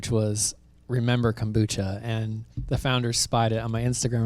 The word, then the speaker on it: RMBR: real memories better rituals so is it pronounced rimar or is it pronounced pronounced remember it says on the side remember okay okay and this